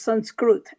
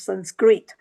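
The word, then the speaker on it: संस्कृत: So in Sanskrit, so it is pronounced as Sanskrit and not anglicized version of Sanskrit.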